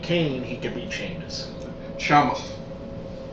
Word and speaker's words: Sheamus: he could beat Sheamus Shamus if he could beat Kane he could be Shamus that's how they say it are you are you